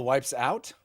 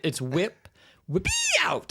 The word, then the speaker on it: Wipeout: All the wipes out? I think that's how you say it. All the wipes out. It's the capital E. It's whippy out, I think is how you technically pronounce the Wipeout franchise.